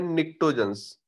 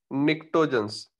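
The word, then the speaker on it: Pnictogens: ये हमारे 15 ग्रुप के एलिमेंट्स हैं जिनको हम बोलते हैं निक्टोजेंस। क्या बोलते हैं? निक्टोजेंस। क्लियर हो गई बात? पी साइलेंट होता है इसमें।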